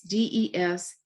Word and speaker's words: Desneves: This was a study done by a woman by the name of Catherine Deneuve, and I'm going to spell it. It's Desneves.